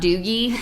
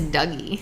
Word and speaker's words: Dougie: he's a kid uh his name is not doogie it is dougie yeah i straight up